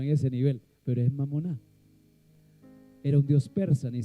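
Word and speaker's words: μαμωνᾶ: Bueno, es una palabra en griego, en realidad se pronuncia mamoná y mamoná era el Dios de las de las riquezas, algo en que se podía confiar.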